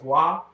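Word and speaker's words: は: Are you aware that the high particle is pronounced wa?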